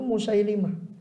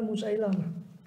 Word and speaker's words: Musailimah: Soalnya pengucapan yang betul itu Musailimah. Tidak tahu kok lebih terkenal Musailamah.